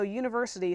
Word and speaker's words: university: an because even though university starts with a you when you pronounce it makes that you sound that's a consonant sound so you start so